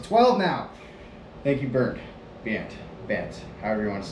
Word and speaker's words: Bernd: He spells his name, I think, B-E-R-N-D, but it's pronounced anything but burned. It's more like Bant.